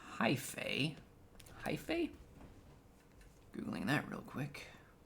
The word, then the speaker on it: hypha: into the heavens it's hyphae hyphae googling that real quick all right google h y p h a e hyphae hypha it's apparently pronounced haifa plural hyphae each of